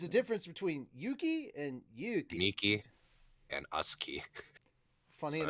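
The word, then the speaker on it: Yuuki: It's two U's. Yeah. That- Yeah. But it's Yuki- pronounced Yuki. There's not a pause in between. It's not Yuki.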